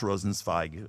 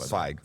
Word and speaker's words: Rosenzweig: We're going to be doing Rosenzweig. That's how you pronounce it. Zweig. Zweig.